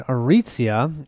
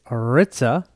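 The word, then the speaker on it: Arica: I've been notified that what I was calling Aritzia is Aritza, so I will try and call her Aritza from now on.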